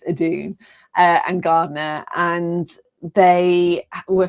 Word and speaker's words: Edun: particularly but also um Eden and sorry Edun it's pronounced I've been calling him Eden all season it's Adun and gardener and They